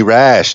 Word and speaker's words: Rasch: soid anyway and then my last name is rash it's so weird but pronounced rather normally it's Ras d8 you'll